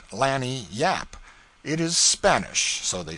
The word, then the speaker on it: lagniappe: They pronounce it lanny yap.